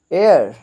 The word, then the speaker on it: heir: grand मदर grand मदर वारिस एयर यहां पे H silent होगा एयर नेक्स्ट है जी